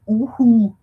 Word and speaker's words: UHU: I love the English pronunciation of yoo-hoo. Sounds for me like yoo-hoo. Yes. And I have been in New Zealand for 23 years by now, I think. And yes, it's uhu in German. And it's yes, and usually I would say uhu.